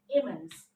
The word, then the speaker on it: immense: This one, IMMENSE. Okay? 1 hyphen, that means 2 syllable, disyllable. How to pronounce it? Immense. And the stress mark over M, that's why we have to say immense. Immense.